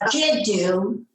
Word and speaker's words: Jiddu: The term is Jiddu. And there's two. That's Arabic for grandfather. Okay. And you can spell it G-I-D-U or G-I-D-O-O.